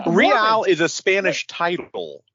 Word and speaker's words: Real: so by the way, so they pronounce it Real Salt Lake. Like Real Madrid, obviously not one of the best teams in the world, but Real, it means royal, so it's Royal Madrid.